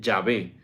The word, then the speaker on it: Yahvé: o como Jehová sí lo más probable es que se pronuncie yahvé yo soy el que